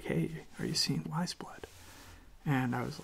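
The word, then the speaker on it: Weyes Blood: And Wiseblood is spelled W-E-Y-E-S.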